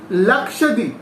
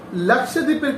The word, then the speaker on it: Lakshadweep: Next one ইজ 4 number, সেটা হচ্ছে লাক্ষাদ্বীপ। লাক্ষাদ্বীপ, I know তোমাদের এই উচ্চারণগুলো একটু তোমাদের কাছে একটু প্রবলেম হবে, কারণ যেহেতু তোমরা নিউ তার জন্য।